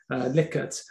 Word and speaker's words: Likert: And then you can use the old favorite of surveys, which is the Likert scale, must pronounce that correctly, otherwise Steve will be after me, Likert, series of answers from one extreme to another, for example, extremely satisfied to extremely dissatisfied.